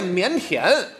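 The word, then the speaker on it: 腼腆: 那正式读音那腼腆。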